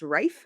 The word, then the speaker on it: Ralph: Oh, I mean, there's also that I've heard someone whose name is spelt what I would consider Ralph, Aralph, pronounced Rafe, and I was like, "That's hard."